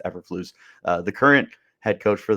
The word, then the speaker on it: Eberflus: And when Matt Eberflus, or however you pronounce his last name, I believe it's Eberflus, the current head coach for the Bears came in, he did not opt to keep Herman around.